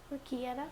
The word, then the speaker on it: orecchiette: I have to get my, how we pronounce it again? Orecchiette? Orecchiette.